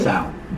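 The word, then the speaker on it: Bánh xèo: Banh Xeo.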